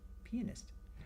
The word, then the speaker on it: pianist: Pianist.